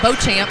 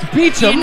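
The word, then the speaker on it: Beauchamp: three Luke beum or I call him Bo champ yeah we call him Bo champ Dar games I know and we got reached out they're like no it's pronounced beachum I'm like okay and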